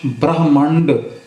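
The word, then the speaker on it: ਬ੍ਰਹਮੰਡ: है कई कोट आकाश ब्रहमांड पना 276 ब्रहमांड ब पैर चरा रहा है ब्र करके बोले जाएगा इसन बार नहीं ब्र करके पढ़े ब्रह मंड कब ई पंडित करे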